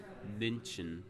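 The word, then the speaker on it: München: with umls on it so how was it pronounced mention mention men yeah men yeah I speak English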